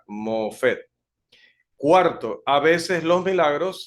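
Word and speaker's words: מופת: se utiliza esta palabra hebrea allí que se pronuncia mofet cuarto a veces los milagros se realizaban sin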